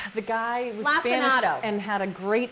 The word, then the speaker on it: lacinato: We looked up the pronunciation. The guy was Lacinato.